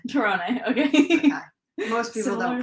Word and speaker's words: Tirone: Tirone. Tirone, okay. Okay. Most people don't pronounce it correctly.